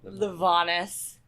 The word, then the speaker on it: Livanos: Okay, Livanos.